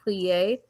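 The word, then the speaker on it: Plier: I think I told you about um I think it's pronounced plea. It's spelled like choir. P L I E R but it's pronounced plea.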